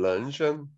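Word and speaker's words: 人参: 현대 중국어로서는 런션. 런션. 자, 예. 오케이. 감사합니다. 자, 그래서 중국어 발음은 런션인데 진생하고는 이게 이제 발음이 차이가 있는 거죠.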